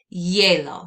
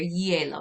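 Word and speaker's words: hielo: going to say el yellow so pretend like that h isn't even there and go right in here yellow yellow el yellow that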